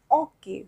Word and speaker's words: hockey: So here we pronounce hockey like hockey. We do not pronounce H, okay, in French. So le hockey sur glace.